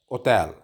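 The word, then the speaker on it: hotel: को कहा जाता है ओतैल ओतल इसमें भी एच साइलेंट होगा ओतैल हेयर को कहा जाता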